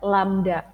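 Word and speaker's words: lambda: ada yang sama tapi ini dibacanya lamda gitu dan dia menyimpulkan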